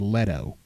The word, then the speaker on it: Leto: So I did some research myself, and I found that when he won Best Supporting Actor for Dallas Buyers Club, they pronounced his name Jared Leto on there.